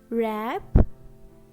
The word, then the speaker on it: wrap: Letter W is silent when a word begins with WR. For example, wrong. This word is starting with WR. So letter W is silent. Next, right, wrap, wrist, wrinkle, and wrote.